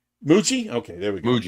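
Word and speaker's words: Mougey: Um I don't know how you pronounce his name. Mug. Darren Mugi. Mug. Mugi. Moo. Muji. Muji.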